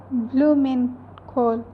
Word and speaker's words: Blumenkohl: E is pronounced as A, that's why it is called blumenkohl.